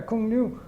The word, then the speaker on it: Cuong Nhu: I couldn't even pronounce it. And they said, no, Cuong Nhu.